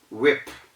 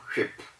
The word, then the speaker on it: whip: then we have whip whip w-h-i-p it's not ship a lot of people say ship in africa here a lot of people say ship and i know it's not only in africa some parts of asia europe and other continents have people who also say ship just as they some africans do so take note the word is whip not ship and then we have